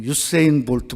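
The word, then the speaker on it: Usain Bolt: 지구상에서 가장 빠른 사람이 우리 한국말로는 우사인 볼트, 그런데 미국 사람들은 그렇게 발음하지 않더라고요. 유세인 볼트 뭐 이렇게 발음을 하는 것 같아요.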